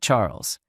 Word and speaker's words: Charles: glass while looking at Charles you're always so thoughtful my dear husband she replied Charles pronounced the French way as charl looked like typical Euro